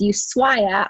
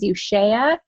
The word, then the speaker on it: Ushuaia: But we flew from there down to, it's Ushuaia. I thought it was Ushuaia.